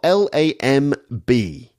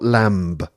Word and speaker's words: lamb: the word II spell L AM B but the B is silent it's just lamb not Lamba so it's just mmm